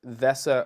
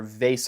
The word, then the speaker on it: VESA: and I also have their VESA or vase amount depending on how you say it so let's just